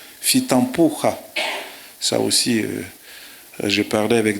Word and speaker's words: Fitampoha: on ne prononce pas Fitampo, on ne prononce pas Fitampo, Fitampoha.